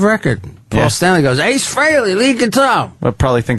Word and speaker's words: Frehley: Frehley. I always spell it wrong.